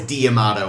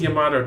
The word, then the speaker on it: D'Amato: And then we realized, it's D'Amato, and they're just really not pronouncing it well.